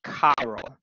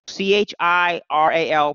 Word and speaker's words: chiral: So whenever a substance is asymmetric and therefore is not identical to its mirror image, the object is said to be chiral. So C-H-I-R-A-L, pronounced chiral, chiral.